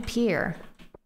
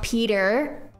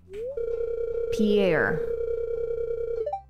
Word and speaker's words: Pierre: Peter no I mean Pier p p Pier that's how you pronounce his name isn't it Pier not Peter Pier this man Pierre oh Pierre yeah hola